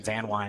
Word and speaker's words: Van Wy: And I believe I have made a mistake on pronunciation of Camden's name. Van Wy, I believe, is the correct pronunciation.